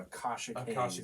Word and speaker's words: Akashic: other band is uh it's called We're called akashic there we go kind of an odd name